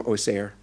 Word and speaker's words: Auxerre: You know, it's spelled A-U-X-E-R-R-E, Auxerre, but having spent too much time in Auxerre, I know that the people from Auxerre say Auxerre.